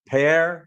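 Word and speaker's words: Phrae: pronunciation of of Tai they don't pronounce the the H like you and soften it so they call it pair pair prey U you know kai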